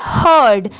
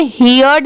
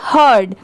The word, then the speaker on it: heard: HE ही, इसे क्या पढ़ेंगे हर्ड। यहाँ पर इसे हियर्ड नहीं पढ़ेंगे, इसकी साउंड क्या आएगी हर्ड, HEARD हर्ड।